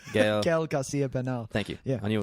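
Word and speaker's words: Gael García Bernal: Gail Garcia Bernal.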